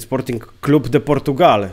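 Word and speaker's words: Sporting Clube de Portugal: Sportingu Lizbona tak naprawdę to trzeba powiedzieć Sporting Club deportugal tak to się poprawnie wymawia czyli potocznie właśnie Sporting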